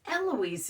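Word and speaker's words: Aloysia: sister's name was eloise they always pronounce it wrong on all of the documentaries it's eloise it's not that hard her name was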